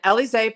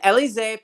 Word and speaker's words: Élysée: An Élysée paper published. If you just think that's from, if you think about the Champs-Élysées, that's what it's from.